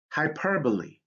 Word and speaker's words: hyperbole: So in words derived from Greek, here's the rule: E sometimes makes the long sound at the end of words. For example, anastrophe, catastrophe, hyperbole. So you see that this E has that long sound.